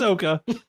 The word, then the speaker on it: Sokka: A name I can absolutely not pronounce, playing Katara. I want to. That one. Ian Owsley playing Sokka. Soka. It's Soka.